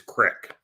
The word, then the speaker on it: Creek: You're not pronouncing it right. It's Crick. Crick.